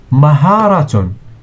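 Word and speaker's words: مهارة: So skill in Arabic is called maharatun. Mim plus ha plus alif plus ra plus ta equals maharatun.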